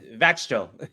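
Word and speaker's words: Växjö: Vaxjo. You say it like it looks like.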